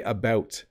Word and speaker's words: about: I say about. It's a little bit, if you listen to it, it's about. It's very round in the O sound, about.